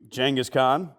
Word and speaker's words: Genghis Khan: Speaking of Firehorse, shout out to you, Genghis Khan. The correct way to pronounce his name.